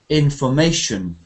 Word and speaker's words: information: So stress is about information. Da da da da. Da da da da. So actually, this one, information. Information. The third syllable is stressed.